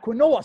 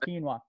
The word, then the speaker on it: quinoa: like I want to get some of that Quinn or stuff okay rail you know what that is and I'm like um yeah I know what it is it's actually pronounced Keane oh I'm thinking again some Queen Ola and